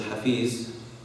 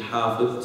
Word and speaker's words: hafiz: Okay, someone who's hafiz, okay, usually mispronounced as hafiz, okay, is actually hafiz.